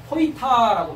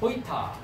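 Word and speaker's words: הָיְתָה: 그래서 여기 보면 호이타라고 발음합니다. 호이타.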